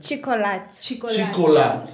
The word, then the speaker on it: Chiccoalot: Chicolat. Yes. Like name like Chico. Okay. Like Chicolat.